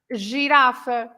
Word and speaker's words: girafa: So these are words that are pronounced with the sound j, Yeah. because you have the G next to an E or to an I.